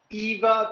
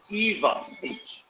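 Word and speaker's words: Ewa: students say hawaii and remember the w is pronounced with the v sound for example there's a beast called eva beach but it's spelled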